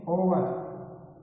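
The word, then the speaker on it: hour: यानी इसका जब एच है वो क्या रहेगा, साइलेंट रहेगा, जब इसको बोलेंगे तो इसको बोलेंगे ओवर।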